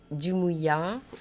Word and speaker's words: Dumouilla: Est-ce que ça se prononce comme ça? Oui, oui, bon. Dumouya.